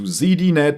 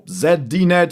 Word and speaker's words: ZDNet: Now, Steven Vaughn Nichols, a major contributor to ZDNet or ZDNet if you want to pronounce it more Europeanlike.